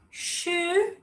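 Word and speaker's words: 十: And 10, super easy, just to cross that, any cross but with straight lines, and it's the rising tone. So sh, take it up.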